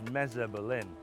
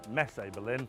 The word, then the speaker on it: Messe Berlin: That building there is Messe Berlin, or Messe Berlin, however you want to pronounce it.